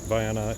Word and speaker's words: Vienna: vienna and uh yes that's how they pronounce it viana it is spelled vienna but um on the